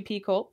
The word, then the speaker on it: Picoult: Jodi Picoult. Is that how it's pronounced? I never knew how she pronounced her last name. Yeah, Picoult. I think it's like Picoult. Yeah, Picoult. But like Picoult.